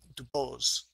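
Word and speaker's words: Dubos: antibiotics I want to tell you about Rene do bomb or do Bowl I guess his family he was American born in France but his family actually pronounced Debo's which is a sort of a typical pronunciation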